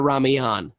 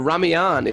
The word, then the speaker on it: Ramayana: Anyway, these Ram Leela, the Ramayana is, or the Ramayana, I don't know how you pronounce Ramayana. it. Ramayana? Ramayana. I've been calling it Ramayan for years. Thank you for correcting me.